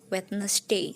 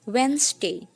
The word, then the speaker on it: Wednesday: juga ada hari rabu ya kebanyakan juga mengucapkannya Wednesday seperti itu ternyata cara pengucapan yang benar adalah wens Day jadi seperti ada pemendekan lagi when Day bisa